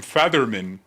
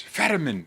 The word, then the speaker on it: Fetterman: And now everyone's like, George, it's Fetterman.